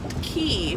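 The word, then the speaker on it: Quay: So I recently ordered these are the these are by the brand Key, which is spelled Q-U-A-Y.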